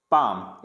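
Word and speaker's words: palm: next है अगर M से पहले, अगर M से पहले L आ जाता है तो इसको पढ़ेंगे काम, बाम, पाम, ऐसे नहीं कालम, बालम, पालम, ऐसे नहीं पढ़ना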